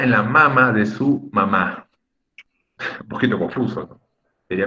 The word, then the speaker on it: mamá: La persona que nos engendró, la persona que nos dio a luz, se escribe con tilde, con acento ortográfico. Es en la última sílaba.